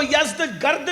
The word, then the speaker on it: یزدگرد: اس کا بیٹا تھا جس کا نام تھا یزدجرد. اس کو یزدگرد بھی کہتے ہیں ایرانی لب و لہجے میں، عربی میں یزدجرد کہتے ہیں.